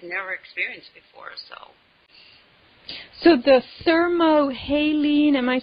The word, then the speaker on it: thermohaline: So the thermohaline, am I saying it right, yes.